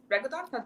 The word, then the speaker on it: reggaeton: I've been getting a lot into reggaeton. Reggaeton?